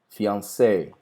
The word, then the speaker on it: fiancé: Ou em uma palavra estrangeira, como por exemplo, fiancé, né? Que daí eu vou obrigatoriamente ter que pronunciar, é uma palavra francesa.